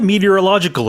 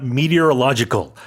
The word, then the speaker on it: meteorological: KMA, the Korea Meteorological Administration. I've always had trouble. Yeah, I've always had trouble saying that on air on the news, but it's a long word. Seven syllables, I think.